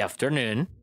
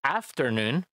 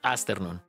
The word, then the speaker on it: afternoon: pronunciación con la palabra afternoon esa F se marca y tengan cuidado de no pronunciarlo con una s porque suena astern y suena feo la